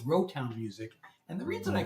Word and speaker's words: Rotown: So I came up with Rotown Music because, I guess Rotown rhymes with Motown, which is a famous record label.